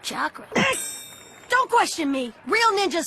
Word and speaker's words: chakra: this some kind of I said you're Catra boss I uh think you're talking about chakra don't question me real